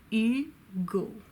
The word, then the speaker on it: Hugo: a fee Madame Bovary Victor can go Victor e go Victor Hugo who of course wrote lemme Sahab